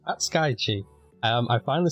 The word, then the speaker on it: Hatsukaichi: Hatsukaichi. I finally said it right.